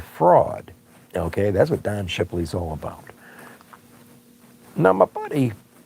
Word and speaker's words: Shipley: a hold of Don Shipley. Okay, and it's spelled just like it sounds, Shipley.